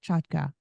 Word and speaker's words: Chotka: go by that sure you pronounced my name correctly so kudos to you it's a Ukrainian name now everybody in America